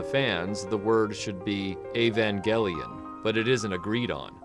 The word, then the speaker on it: Evangelion: noticed I've been pronouncing Evangelion with a hard e at the front but I'm using a hard G in the middle despite the word Angel